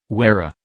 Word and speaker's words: Huayra: The Pagani Huayra, Italian pronunciation, Huayra, is a mid-engine sports car produced by Italian sports car manufacturer Pagani, succeeding the company's previous offering, the Zonda.